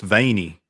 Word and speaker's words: Vienna: no no no no it's veiny those are veinies yeah I guess you could say it's beanie you gotta drag that out veiny veiny sausage baby